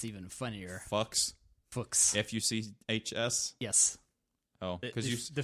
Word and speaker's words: Fuchs: And pronounced, it's even funnier. Fuchs? Fuchs.